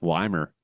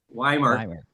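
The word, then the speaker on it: Ymir: That's Wymer. Wymer. I don't know how they came up with that pronunciation because yeah, I was kind of when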